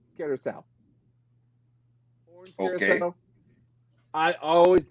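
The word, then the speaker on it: Curaçao: Curacao always gets said wrong. They always go Cacaro. I was like, no, it's Curacao.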